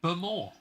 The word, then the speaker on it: Bowmore: Hope you're enjoying your Bemore. That's another thing. Isla. Oh, yeah. Spelt Bowmore, pronounced Bemore.